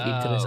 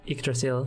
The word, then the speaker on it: Yggdrasil: It is like Yggdrasil. Oh, there it is. Is that how you pronounce it? Yggdrasil, yeah.